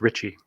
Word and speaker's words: Ricci: least known founding father lorenzo ricci or pronounced ritchie ricci was a tuscan aristocrat